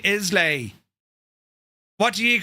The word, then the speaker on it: Islay: La, not lay. Right, so it's Isla.